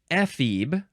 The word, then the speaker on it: ephebe: Next is ephebe. Ephebe or where did it go? Ephebe. You can emphasize either one.